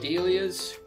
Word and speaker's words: dahlia: and we're looking at dahlias dahlias i guess the correct correct pronunciation is dahlia once and for all because the gentleman's name who discovered them was named doll so there you go uh so we're